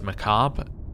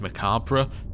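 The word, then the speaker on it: macabre: Um, Americans say this as Macab. British, it is correctly pronounced Macabra.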